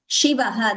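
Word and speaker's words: शिवः: Just that Shiva should be chanted as she, not sa. That sa should not be heard. It is Shivaha. That she pronunciation should be very clear.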